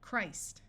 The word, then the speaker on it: Christ: This I will have its long sound. Christ. Notice that when we go from Christ to talking about the holiday, Christmas, the T sound disappears and the I becomes short.